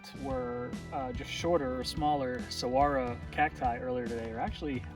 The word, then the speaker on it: Saguaro: Looks like the park is spelled Saguaro with a G right there, but it's not. The G is really a W.